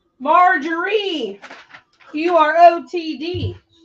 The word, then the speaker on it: Marjorie: All right, Marjorie, you are OTD. She put the wrong emphasis on the wrong syllable. Marjorie, Marjorie?